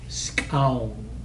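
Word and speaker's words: skxawng: Skown. It's spelled S-K-X-A-W-N-G.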